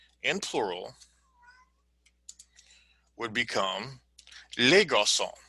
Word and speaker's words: garçons: For example, le garçon, the boy, in plural, would become les garçons. Now notice you still don't pronounce the yes at the end.